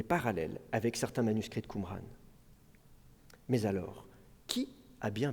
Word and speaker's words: Qumran: Au XIXe siècle, on pense que le nom arabe Qumran, qui peut se prononcer aussi Gomran, pourrait dériver de Gomorre,